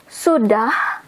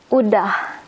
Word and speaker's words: sudah: The formal word for that is sudah. But again, we skip the S. So you will hear often or mostly udah instead of sudah.